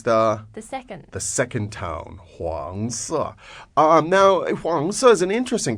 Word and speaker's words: 黄色: 黄色 Again, please. 黄色 One more time. 黄色 So the tone there is the the second second tone, 黄色.